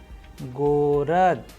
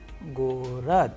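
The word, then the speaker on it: город: Now, we have another Russian word Gorod, Gorod, which means city. Here you can pay attention that how the letter G is being pronounced in the word Gorod, which means city.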